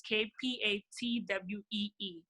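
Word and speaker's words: Kpatawee: It's K, the K is silent, so it's KPATWEE.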